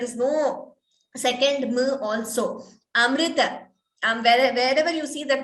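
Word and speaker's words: अमृत: that this perfectly not the pronunciation of the word amrita it is not amruta it is not it is like i say always that's amrita and also it is not amrita that's another common mistake we come across there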